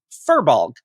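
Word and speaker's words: Firbolg: For those confused, fir, as in the tree, is said fur, F-U-R. Fur, as in FEER-bolg. In lore, is pronounced fear, apparently.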